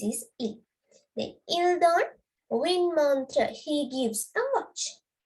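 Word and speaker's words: une: This is how to pronounce win.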